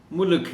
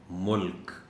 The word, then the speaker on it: ملک: لوگ عام طور پر ملک ہی بولتے ہیں، تو اس کا صحیح تلفظ ہے ملک، ملک نہیں، ملک۔ طلباء کو مشکل الفاظ